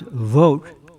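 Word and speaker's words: Vought: Voit which is pronounced vote um is has a very clear reputation.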